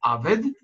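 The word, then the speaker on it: עָבֶד: Почему же здесь мы читаем «авед»? Потому что ударение на конце фразы меняет вот такую огласовку «сегол» – три точки, на вот такую огласовку «камац» – полуплюсик.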